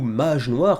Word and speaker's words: Mage Noir: Le projet Cocorico de la semaine, il s'agit de Mage Noir, ou Mage Noir, comme on pourrait le prononcer en français après tout, puisque c'est